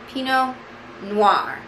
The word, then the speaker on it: pinot noir: it's a lush peanut pinot noir don't look at it when you say it that t is just going to try to jump in there all right people that